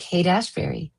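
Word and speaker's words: Haight-Ashbury: Like Hate Ashberry.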